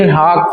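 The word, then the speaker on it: Leeuwenhoek: [गला साफ़ करने की आवाज़] लवन हॉक पढ़ा जाता है लेकिन स्पेलिंग थोड़ा कॉम्प्लेक्स है तो आप इसका ध्यान देंगे।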